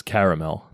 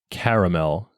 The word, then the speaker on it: caramel: a map showing that most people across the United States say it with two syllables like caramel but on the east